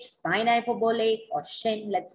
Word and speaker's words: sinh: this is sine hyperbolic this is sine hyperbolic let's call it as shin sinh okay you can call it a sign h sin hyperbolic or shin let's call it as